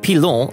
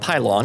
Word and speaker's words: Pilon: It's called Pilon, not Pylon, as I pronounced it, and it's a treasure trove of unique and adorable things.